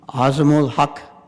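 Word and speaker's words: Al-Haq: apologize if I mispronounced is it aul I wanted to make sure you got my name is hak is the last name pronounce it for me aul hak yes okay you know I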